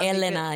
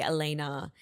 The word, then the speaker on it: Elena: Elena, yeah. It's the Italian pronunciation. Cuz I think Spanish and Russian and like Bulgarian like they say Elena.